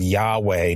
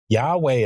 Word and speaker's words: Yahweh: And I'm just going to use the typical American English pronunciation of that word Yahweh.